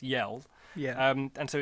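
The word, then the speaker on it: Jelle: thought it was pronounced gel but it's not because it's a foreign name so it's actually pronounced yell yeah um and so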